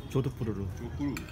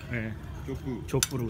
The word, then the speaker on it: 조드푸르: 내일 저희는 우다이푸르를 떠나가지고 조드푸르로 조푸르 갑니다. 조푸 어감이 좀 그렇지만 조푸 잘해야 될 발음 조드푸르 조드푸르 식사하시네요 또 식사하시네요 또 매네요 식사하시네요 먹고 노는 게 일이죠 뭐 좋은 저녁 되세요.